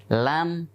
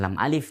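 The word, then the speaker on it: لا: ka, fa, qaf, kaf, lam, mim, nun, wawu, ha, ya, hamzah, kemudian yang sering kita baca dengan nama lam alif, ternyata membacanya bukan lam alif tapi la. La.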